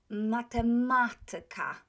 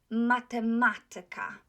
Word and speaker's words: matematyka: So, matematyka. Tyka is not accented. The syllable before tyka is accented. So, matematyka.